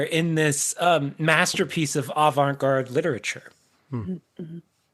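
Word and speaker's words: avant-garde: This is a surrealist and also Oh, I said avang guard. Avantgard surrealist. Yes. Yeah. Poem inspired by pop culture. Mhm. If you say it like that, it's better, right?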